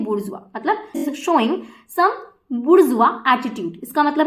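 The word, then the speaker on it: bourgeois: ये जो वर्ड है उसको हम प्रोनाउंस करेंगे किस तरीके से, सो दिस वर्ड इज बुर्जुआ। बुर्जुआ, तो ये जो वर्ड होता है कैसे प्रोनाउंस होता है, बुर्जुआ।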